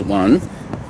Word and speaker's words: an: And then, of course, the next one is 1030. The front nasal sound, an, A-N, on. The an itself is not an, on.